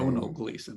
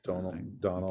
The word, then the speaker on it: Domhnall Gleeson: Domhnall Gleeson, I think is the way to say it. Donald.